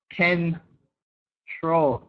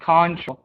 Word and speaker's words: control: little bit confusing but this this turns into like a ken troll control not contra control um advice advice lag